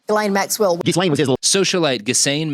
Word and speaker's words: Ghislaine: Yes, stop calling her Ghislaine. This Ghislaine Maxwell guy or lady. She made sure that I knew her name and how to pronounce it correctly. Ghislaine Maxwell.